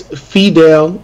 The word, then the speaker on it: FEDEL: Because I always like ruin people's names from overseas, but yeah, no, it's FEDEL.